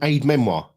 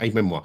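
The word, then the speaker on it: aide-mémoire: never good is it Aid Memoir French pronunciation a French Lan word meaning a memory aid a reminder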